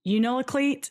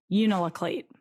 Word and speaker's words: Unalakleet: was born in 1984 and grew up in Unalakleet, Alaska. I sure Googled about that. Yeah. I Googled how to pronounce a bunch of stuff in this. So I spelled it out phonetically next to it. Unalakleet.